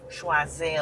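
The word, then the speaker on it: Choiseul: Schwazel and I love that. It sounds so French just like how it is.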